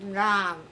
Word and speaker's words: Lahn: The border, the river was called Lahn.